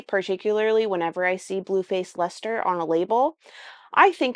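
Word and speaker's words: Leicester: out loud and it had the word Lester in it. And guess what? I didn't pronounce correctly, the word Lester. Because it doesn't look like Lester phonetically to me.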